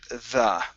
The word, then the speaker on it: the: d it's the so make sure that your tongue is between your teeth over the over the